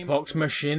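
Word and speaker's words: Vox Machina: It's Vox Machine. I know that now, but I I mispronounced it.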